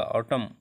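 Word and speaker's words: autumn: हिम ऑटम, ought ए यू टी यू एम एन नहीं पढ़ा जाएगा, ऑटम।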